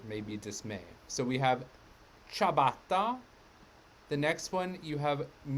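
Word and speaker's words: ciabatta: back from south africa where chabatta is pronounced siabata much to our amusement or maybe dismay so we have chabatta the next one you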